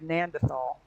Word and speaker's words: Gnadental: And then I typed in the word and and they pronounced it without the G. Nand nandith. In fact, they said Nandthal.